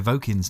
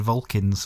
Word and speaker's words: Vokins: And also we obviously mispronounced Claire Vokin's name. We keep saying Vulcans for some reason. Vokins, no L. Yeah. Silent L. Yeah. No L at all, actually.